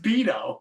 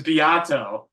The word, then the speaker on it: Beateaux: Bato I'm an idiot all these years I thinking it was just pronounced beo no no no was I mean my real name is beo right but um but the con version is Bato Bato yes that's [ __